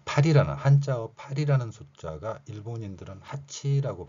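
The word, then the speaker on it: 八: 자, 8이라는 한자어 8이라는 숫자가 일본인들은 하치라고 발음을 합니다.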